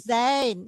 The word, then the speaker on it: zijn: Tetapi kalau saya misalnya sebutkan di sini they, Bacanya apa? Zain, Zain.